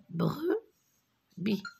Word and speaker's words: brebis: C'est une brebis. Brebis. B, re, pre. B, I, B. Le S, je ne le prononce pas.